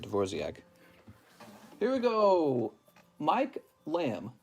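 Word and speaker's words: Dvořák: musician is divor Dvorak it's pronounced dvor or divorc I think it's just pronounced Dvorak I think I heard Somebody pronouncing it dorc here we go Mike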